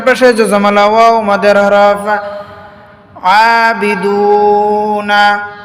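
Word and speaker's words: أَعْبُدُ: জজমালা ওয়াও মাদের হরফ আবিদুনা মা উপরে চিকন চিহ্ন তিন আলিফ টানিয়া পড়িতে হয় আবুদ আবুদ অক্ষ করার কারণে ডালটা বায়ের সাথে মিলে যাবে জজমের উচ্চারণ হবে এজন্য কলকলার আওয়াজ দিয়ে পড়তে হবে কলকলা মানে ধাক্কা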